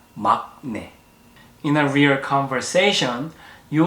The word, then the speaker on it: 막내: Even though the first letter has 기역 on the bottom part, it should sound like 응. So it's 막내, not 막내.